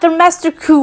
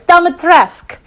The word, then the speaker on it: Dimitrescu: is Lady Dimitrescu, not Domesticu or whatever, it's Dimitrescu. You don't pronounce the damn U.